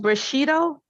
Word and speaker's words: Bushido: yourself of death to accept it and it's pronounced Bushido well yeah but you know but Cheeto Samurai